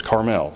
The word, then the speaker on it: Carmel: And I say Carmel, some say Carmel. I looked up and it says the exact right definition, the way to pronounce it is Carmel. So I'm going to say Carmel.